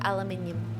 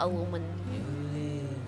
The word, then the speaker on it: aluminium: I say aluminium, not aluminum.